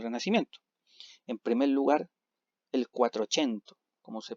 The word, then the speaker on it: Quattrocento: En primer lugar, el Quattrocento, como se pronuncia más o menos así, que correspondió o